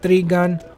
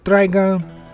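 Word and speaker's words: Trigun: if you haven't seen three gun or trigon however you personally prefer to pronounce it i highly recommend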